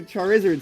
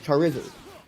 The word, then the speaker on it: Charizard: It does because you can hear wizard like Lizard.